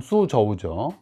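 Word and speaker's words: 蘇州: 쑤저우죠 소가 이제 소주로서 소주가 이제 중국식 발음으로 하면 수저우죠 청대 최대의 견지갑 생산지로서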